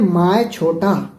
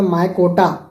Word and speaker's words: Mycota: Monera kingdom को हम बोलते हैं माय छोटा, जिसको हम अगर क्लियर प्रोनाउंसिएशन करें तो माय कोटा, माय कोटा, MYCHOTA।